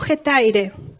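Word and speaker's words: ἑταῖρε: Y es una palabra que se pronuncia en griego hetaire.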